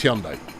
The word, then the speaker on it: Hyundai: It's Hyundai. Yeah, and that's how the Americans spell it. Pronounce it, rather. And we always, you know, it brings out classic British superiority to go, oh, yeah, you're pronouncing it wrong. Turns out they're pronouncing it right.